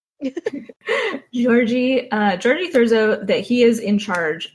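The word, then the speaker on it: György Thurzó: Georgie spelt with a two Y's. G-Y-O-R-G-Y. Sounds like orgy. Georgie Thurzo, that he is in charge of the family now.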